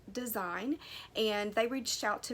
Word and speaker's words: Dasein: amazon and they're called design now it's spelled d-e-s-e-i-n but it's pronounced design and they reached out